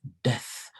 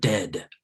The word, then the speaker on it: death: And it is pronounced death. Death, not dead.